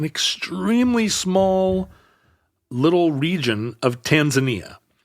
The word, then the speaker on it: Tanzania: small little region of Tanzania or Tanzania, depending on whether you are going to practice some weird pronunciation of countries. I said Tanzania when I was a kid. Tanzania. Because every other word in English, Romania, sure. Pyromania, all the Romanias.